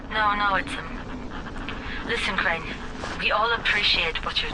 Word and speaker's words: Crane: my name is crane crane crane rhymes with train and brain and sane and grain and rain and plane and the other kind